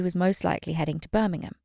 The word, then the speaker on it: Birmingham: And I know they say Birmingham, but I just can't say it. Birmingham? No. Birmingham. She was heading to Birmingham to see her dad. Thank you for saying it correctly.